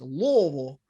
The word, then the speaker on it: Louisville: through the university of louisville that's the right way to say louisville by the way it's louisville uh i had to